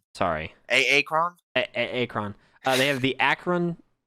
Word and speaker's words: Akron: Akron. Sorry. Akron?